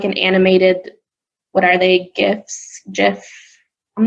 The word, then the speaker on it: GIF: say it wrong allegedly the creator of that particular image file says that it should be pronounced jiff but i will tell